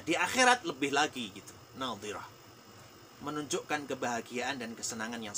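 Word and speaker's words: ناضرة: Ingat ya, kalau ayat yang ke-22 itu pakai dhad, maka bacanya harus hati-hati. Ini keliru baca, jadi fatal ini. Jadi kalau ayat 22 tadi wujuhun yauma idzin nadhirah. Nadhi itu sisi lidah menyentuh di geraham atas kemudian ditekan.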